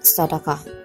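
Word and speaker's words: صدقة: Finally, the third loanword is sedekah from the Arabic word sadaqah, pronounced as sadaqah, meaning sincerity.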